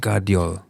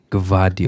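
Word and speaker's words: Gvardiol: v a r what it's different but it's pronounced guardi if you were to just read it off like someone give you a piece of paper pronounce the name gavio gav yeah you'd say that there was um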